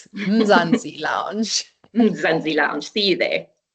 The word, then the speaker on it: Mzansi: Let's uh say it one more time for those that wanted to make sure they get the pronunciation right. Mzanzi Lounge.